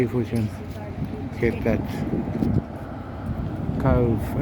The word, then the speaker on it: Cobh: Let's see if we can get that Cobh. It's pronounced Cobh, C-O-V-E. B-H is this V sound in the Irish language, which I learned very soon after getting here.